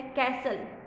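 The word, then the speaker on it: castle: The T in the words is silent. T word जो है यहाँ साइलेंट है बच्चों। जैसे कि फर्स्ट है कैसल, कैसल, ले, कैसल में तो T भी साइलेंट है और E भी साइलेंट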